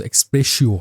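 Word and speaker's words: expressio: इसको ना इसका एक्चुअल प्रोनाउंसिएशन एक्सप्रेसियो है क्या बताओ एक्सप्रेसियो जैसे जैसे तुम यह कॉफी वगैरह का जो होता है ना एक्सप्रेसियो वही एक्सप्रेसियो उनस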